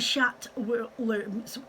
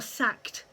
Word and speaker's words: Schacht: Then you've got your Schat spinning wheels, which are SCHACHT, okay, Schat, or Sacked, whatever, pronounce it for which you want, but I lived in Germany for years and I would have called that Schat.